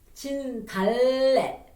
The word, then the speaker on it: 진달래: And then also, if you see Lieul in the bottom of the letter, we need to what? Roll over your tongue and touch your top of your mouth. 진달래, 진달래, 달.